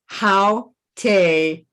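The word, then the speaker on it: Aotearoa: It's Haute-Arawa. Haute-Arawa. Майорійська назва Нової Зеландії, вона звучить дуже цікаво, і Трейсі намагалася нам її вимовити.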